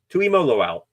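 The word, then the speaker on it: Tuimoloau: Tui Mo Loau. There we go. Tui Mo Loau. There you go. Gotta phonetically go through that there.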